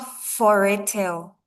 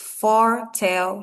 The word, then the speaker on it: foretell: So it's not foretel, right? It's foretail. Foretail. Yes, the E is silent, so it's foretell, forecast.